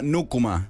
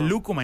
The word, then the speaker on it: Nukuma: de cambios se llama nukuma nukuma con acento en la u y con k y con n la gente dice la gente dice luma y no es luma claro de luma claro